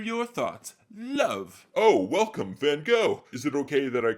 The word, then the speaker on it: Van Gogh: It's pronounced Van Gogh. Okay, not quite sure how correctly you pronounce that, but I do think I will stick with what's generally accepted here in America, Van Gogh.